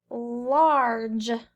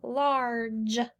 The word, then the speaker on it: large: our next word now it has the ar and we learned the ar says r large this is a soft g large it says the j sound this e doesn't say anything all right are you